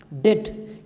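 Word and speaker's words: debt: डेट, ये डेट होता है, बी साइलेंट होता है इसमें।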